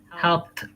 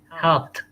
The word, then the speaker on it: helped: asked asked help help helped helped very good in both of these cases the d sounds like t if you listen you